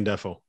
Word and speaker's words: Ndefo: And how do you pronounce it? Ndefu? Ndefo? Yeah. Casey Ndefo.